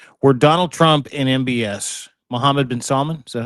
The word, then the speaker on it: Mohammed bin Salman: There is a phone call that exists around this conversation where Donald Trump and MBS, Mohammed bin Salman, is that how you say it?